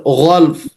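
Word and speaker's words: غلف: Cuman dia kalau di naqal 2 sukun jadi ghalf. Wa qalu qulubuna ghalf. Gitu bacanya Bu kan?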